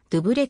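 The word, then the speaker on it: Douvres: いう意味でありフランス語名はドゥブレと発音するヨーロッパ大陸と接近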